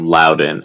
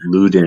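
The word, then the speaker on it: Leuven: luden or against luden I believe it's it's pronounced Lowden and I know I've made the mistake of saying luden in the past um yeah with one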